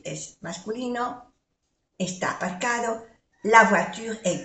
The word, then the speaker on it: voiture: La voiture est garée devant le bâtiment. Vamos a ver. O-I es oie. Oie. Voiture. U. Voiture. No pronunciamos la E.